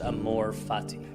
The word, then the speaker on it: amor fati: there's a Latin phrase pronounced Amor Fati it's one of the more powerful ideas I've